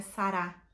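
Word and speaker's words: שרה: forma de falar sarai ele deu o nome de Sara que a pronúncia em hebraico é sará que significa princesa nós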